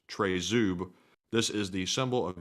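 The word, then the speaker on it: Тризуб: Trident you refer to is actually called a tri-zub actually says it's pronounced trezub this is the symbol of the Ukrainian Independence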